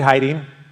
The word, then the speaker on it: Heyting: there you got to drop a number of syllables and something um David Heiden is that I got it right you got